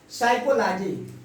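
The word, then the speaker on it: psychology: एन के पहले पी आया हो तो उसका प्रोनाउंसिएशन नहीं होता है। न्यूमोनिया, देखिए न्यूमोनिया, न्यूमोनिया, न्यूमोनिया। साइकोलॉजी, यह है आपका साइकोलॉजी, साइकोलॉजी।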